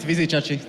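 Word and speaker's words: Vizicsacsi: You pronounce it Vizichachi. Vizichachi.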